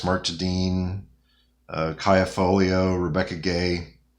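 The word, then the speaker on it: Rebecca Guay: to anson maddox mark tadine uh kaia folio rebecca gay like just incredible artists i did look that up by the way that's how you pronounce her name rebecca gay um it looks like gray but uh she's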